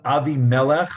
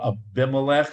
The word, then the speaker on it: Abimelech: um he visits uh avi melech or abimelech however you want to pronounce it who's the king